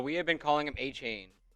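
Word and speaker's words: Etienne: name's actually Travis Achain." A chain. Yes. I I feel like if you go 23 years, you're like, "Bro, I It's a Louisiana pronunciation."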